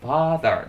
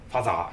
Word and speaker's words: father: うとね、発音ファーザーですからね、はい、ファザーじゃありません。